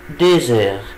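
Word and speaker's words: deux heures: وخلي بالي هنا ان الاكس نطقتها زد علشان جه بعديها ان فويل، عشان كده بقول ايه؟ الي دوزور.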